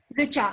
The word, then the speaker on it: Richa: I'm sorry, I mispronounced your name. Richa, R-I-C-H-A.